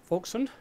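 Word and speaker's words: Wolszczan: And this guy, Alexander Vson, that's how it's pronounced, um, thought, hm, well, this could be kind of useful.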